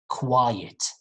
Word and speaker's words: quiet: first one like silence quiet quiet it's like two syllables the second word quite very fast quite quite it's like saying white you know the color white not black white but you add q at the beginning quite quite right not q but quite but the first one quiet be quiet it's longer quiet and of course the